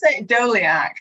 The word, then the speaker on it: Doleac: briefly saw Adam how do you say this dolacy doliak that's how I pronounced it and I will talk about him